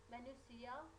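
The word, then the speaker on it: minutiae: म्यूटिया इज a plural of म्यूटिया and pronounce as, हम इसको pronounce करते हैं मैन्यूसिया।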